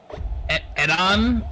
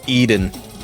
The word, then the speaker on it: Eden: Edon, perhaps? Nope. But no. Okay. It's Eden. Like the Garden of Eden.